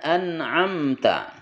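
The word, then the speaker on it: أنعمت: kuat di antara keduanya jangan anamta tapi anamta anamta kemudian ta ketika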